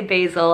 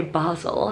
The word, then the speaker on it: basil: basil i'm american say americans say basil and the brits say basel so clearly i'm uh